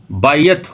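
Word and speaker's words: בית: استعمال کیا جاتا ہے، جبکہ عبرانی زبان میں اس کا تلفظ بیت ہوگا۔ بے کے اوپر زبر ہوگی اور یہ کے نیچے زیر۔ یہ کسی ایک گھر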